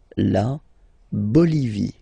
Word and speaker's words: Bolivie: Okay, final E, not pronounced. La Bolivie.